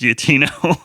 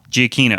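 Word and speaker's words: Giacchino: giaccino's score over the wait it's not pronounced yetino yeah we were wrong uh um Jonathan Polly he corrected us yeah what did how is it pronounced Michael GI Aquino giacino okay so anyway sorry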